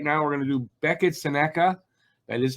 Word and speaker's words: Beckett Sennecke: and uh right now we're going to do Becka Sena that is how it's pronounced a very fast late Rising forward um